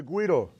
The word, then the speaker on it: güiro: this is the Guido GU iro not GUI deal as I hear many people mispronounce the name of this instrument specifically this is called